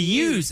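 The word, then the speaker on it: yous: It's if you want if the use it's just outright use.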